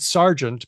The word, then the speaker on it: sergeant: not ba and also there's Sergeant which is said Sergeant but which is spelled Sergent what's going on there well in the 1800s a lot of words with eer were pronounced AR people used to say